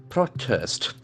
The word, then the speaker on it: protest: very prominent continue continue protest protest p r o t e s t protest protest protest the first syllable is very prominent that letter has got